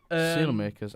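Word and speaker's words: Saelemaekers: How do you pronounce his name? Sailmakers.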